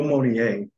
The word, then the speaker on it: Mounier: the interview with Flo Monier of cryptopsy I hope I said your last name correctly yeah man it's hard to pronounce dude I mean it's it's but I'm saying it with a French accent right so so I